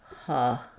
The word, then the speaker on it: hustle: Same pattern, but we have the stressed schwa, the sound in our stressed syllable. So that would be hustle.